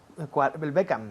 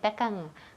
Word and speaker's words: Beckham: Beckham. Yes, repeat. Beckham. Beckham. Todo el mundo aquí dice Beckham con la boca abierta. Sí. Beckham, pues cierra. Beckham, M.